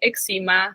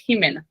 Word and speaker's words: Ximena: People will call me Eczema, Ximena, Ximena, all the things. It's Ximena.